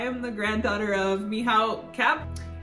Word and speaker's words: Cap: I was like, hello, I am the granddaughter of Michał Kap. It's pronounced Sup here in Poland, but in Canada, it's Cap.